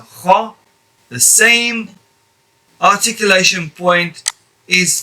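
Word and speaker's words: خ: The same articulation point as letter kha, where this letter kha is pronounced by lifting the back part of your tongue and firmly touching the back of the palate of the mouth, the soft part. Kha.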